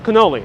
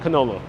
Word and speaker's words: cannoli: uh it's like the cannoli debate here you know you have a cannoli here in new york it's cannoli ain't canola we're in new york we're